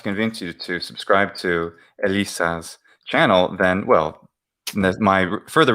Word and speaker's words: Elissa: That's the YouTube address, or you can type it's Elissa, not Alyssa, Elisa. Oh, no. using the, excuse me, Latin pronunciation.